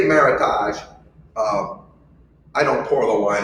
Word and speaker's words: Meritage: hear it terribly mispronounced maritimes it's not french it's very american it's meritage john's a very nice